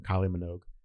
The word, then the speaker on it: Kylie Minogue: Kylie Minogue.